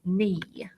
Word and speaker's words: knee: I know that the K is silent, so this word is knee.